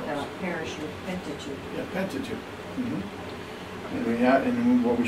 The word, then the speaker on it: Pentateuch: And he preached from the Septuagint and from the Pentateuch.